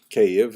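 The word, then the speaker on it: Kyiv: omelian pritzk opined that kiev cave as it's pronounced today in the ukrainian pronunciation cave was actually founded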